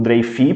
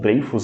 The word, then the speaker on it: Dreyfus: historiadores, porque ambos foram igualmente marcados pelo caso Dreyfus, por exemplo, ou Dreyfus, dependendo da sua pronúncia, o caso Dreyfus ou o caso Dreyfus.